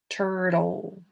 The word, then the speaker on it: turtle: turtle let's look though remember we learned that e at the end of words doesn't really make any noise it's just just sneaks and hangs out there right it's like a silent e so really the last sound is turtle hmm do you